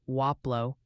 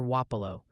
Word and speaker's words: Wapello: Also, just a heads up, the locals are chiming in on Wapello. Seems the consensus is leaning towards something like Waplo or Wapo.